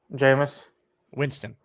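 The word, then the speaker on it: Jameis Winston: from saying jamus Winston repeat after me ready jamus jamus Winston Winston reason why jamus Winston jamus Winston there you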